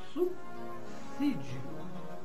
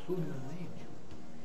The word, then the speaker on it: subsídio: Professor, qual a pronúncia do vocábulo al pronúncia do vocábulo al é subsídio, não subsídio.